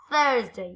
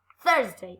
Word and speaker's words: Thursday: today are you okay Thursday okay very good on your teeth your tongue on your teeth Thursday okay very good Thursday